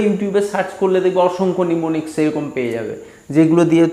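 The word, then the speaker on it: mnemonics: তা আমি বইটাতে যেগুলো আছে সেই বইটার নিচেই দেওয়া আছে, নিমোনিক্সটা আছে, নিমোনিক্সটা দেওয়াই আছে, নিমোনিক্স, নিমো, MONICS, নিমোনিক্স। হ্যাঁ, এমটা সাইলেন্ট থাকবে, নিমোনিক্স বলে এগুলোকে।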